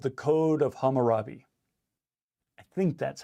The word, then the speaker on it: Hammurabi: In the reading that you guys have been playing with, you've seen something called the Code of Hammurabi. I think that's how it's pronounced, Code of Hammurabi.